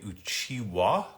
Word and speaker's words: Uchiha: In the French dub, Uchiha has been renamed Uchiwa, considering that the letter H is silent.